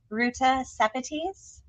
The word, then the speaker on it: Ruta Sepetys: our very favorites, and I really hope I pronounce this correctly, but please correct me if I don't, Ruta Sepetys.